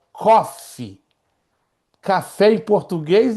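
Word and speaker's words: Qof: e café em inglês, cofe. Então, se você lê o pé da letra, dá aquela ideia, né, que é coffe, né, café em inglês, mas não é.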